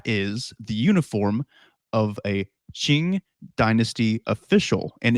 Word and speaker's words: Qing: wear and that is the uniform of a ching dynasty official and it's hard to describe what